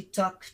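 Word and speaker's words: talk: আচ্ছা এরপর আসি টক, টক মানেও বলা, টি এ এল কে উচ্চারণটা টক। অনেকেই আমরা বলে থাকি না যে টক, আসলে এলটা সাইলেন্ট থাকবে, এটার উচ্চারণ হচ্ছে টক,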